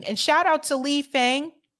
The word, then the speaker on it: Fang: shout out to Lee Fang I think it's pronounced Fong Lee Fung shout out